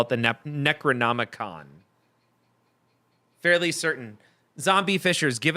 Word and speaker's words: Necronomicon: so zombie is saying in Evil Dead they pronounce it necronom not Necronomicon but Hollywood saying that in real Ghostbusters they